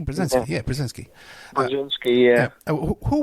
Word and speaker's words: Brzezinski: Carter had Zabriskie, and also too Obama had Zabriskie too. Am I pronouncing that correctly? Brzezinski.